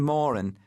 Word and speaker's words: Morin: His real name's Morin, rhymes with Warren.